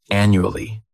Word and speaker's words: annually: It's like you're just saying that letter U. And the third syllable has that schwa, andu, ali. Annually.